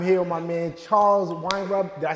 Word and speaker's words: Weinraub: I'm here with my man Charles Weinraub.